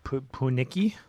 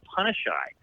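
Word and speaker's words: Punnichy: But it's actually Punashai. Um, Oh, and it's a Cree Indian word, and there's a yeah. lot of First Nations reserves around Punashai, and Uh-huh.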